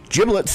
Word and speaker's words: giblets: 7, according to the experts, quote unquote, at Food Network magazine, giblets is pronounced with a soft G, like genius.